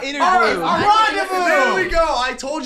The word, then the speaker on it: rendezvous: It's Rendezvous. That's how you pronounce it? What? Rendezvous? How are you pronouncing it? Rendezvous? I was like, Rondevious.